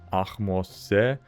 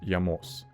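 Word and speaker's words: Ahmose: I found pronunciations ranging from Akmos to Yamos, which would give us either Akimusa, so basically what we had before, or something like Yamosa, Arabanum.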